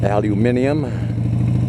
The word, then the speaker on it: aluminium: lined with aluminum foil or as you guys over there in the UK pronounce it aluminium foil and then there's Mar